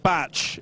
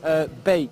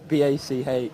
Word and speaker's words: Bach: They're saying Batch. Is it what? How do we say your name? Bach. B-A-C-H.